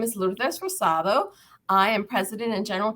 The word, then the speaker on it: Rosado: I let me let's see if I can pronounce this right Rosado yes am I right okay good good Lourdes